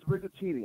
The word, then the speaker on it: Riguccini: And then the last name is Rigaccini. I'll spell it for you. It's RIGUCCINI.